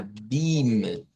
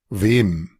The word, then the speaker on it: wem: Vean, entonces, esta va a sonar a beam, beam. Si no, tenemos la ventaja de escucharla acá. Wem. Entonces, aquí es importante cuando vayamos a trabajar siempre con esto, que cuando vemos este símbolo así, esa es la E, como parecida a la E nuestra, un poco más abierta. Pero cuando vemos esto, no, esto suena como la I del inglés.